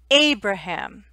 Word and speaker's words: Abraham: lincoln abraham lincoln okay so in english every word has one part one syllable that is a little longer and a little stronger so in abraham a is stressed we call this stress abraham lincoln lincoln so